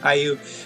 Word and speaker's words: Hyoh: I'm still pronouncing it Hyoh. I have been pronouncing it Hyoh forever. Maybe I'm on the more Japanese pronunciation, but anyway.